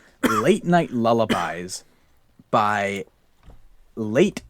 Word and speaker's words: Lait: And it is called Late Night Lullabies by Late Fitzpatrick. His first name is spelled Lait Fitzpatrick.